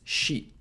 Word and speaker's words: し: to avoid that し is pronounced like in ‘sheep’ Take note that this is the first exception kana doesn't follow the patterns that show up everywhere else Instead of being ‘si’, it's ‘shi’ How to remember し?